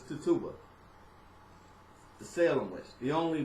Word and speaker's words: Tituba: to me every time I hear but it's Tituba the Salem was the only black Salem check